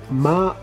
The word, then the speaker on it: Malefic: Dice archienemigo Malefic, Malefic, o sea, así se pronuncia.